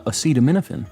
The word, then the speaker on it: acetaminophen: hold on I'm trying to we're getting the pronunciation of how to say this uh nothing acetaminophen uh acetaminophen apparently okay let's get this other one going